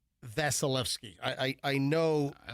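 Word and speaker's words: Vasilevskiy: Did I mispronounce the last name? Of whom? Listen, I know that it's Vasilevsky.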